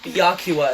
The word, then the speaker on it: Byakuya: Byakua is how you pronounce his name.